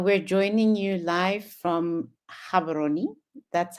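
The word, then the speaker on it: Gaborone: Uh we're joining you live from Havaroni. That's how we pronounce it here in Botswana.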